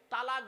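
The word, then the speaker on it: طلاق: মুসলিম সকলে শুনে যান শব্দটা কিন্তু তালাক নয় শব্দটা কি শব্দটা হলো তলাক কি বললাম জোরে বলুন তলাক ওর আরবি উচ্চারণ কি তম আলিফ কফ বাংলা উচ্চারণ কি তয় বায় লকার ক তলাক মানে পৃথক দেওয়া ছেড়ে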